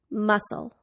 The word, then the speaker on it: muscle: silent be doubt debt the silent c muscle Connecticut the silent L walk